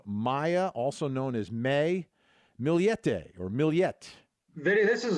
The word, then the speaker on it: Millete: the story of Maya also known as May milete or milet Vinnie this is a real head scratcher milete is how her name is pronounced name's Maya but she goes by May